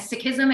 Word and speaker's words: Sikhism: seek and sikhism this is not the correct pronunciation in the sick community we say sick and sickism and in fact you can even correct your